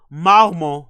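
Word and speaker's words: Marmont: pronunciation sh so you heard that right sh Maro Maro now listen to how Brendan pronounces it please listen to how Brendan pronounces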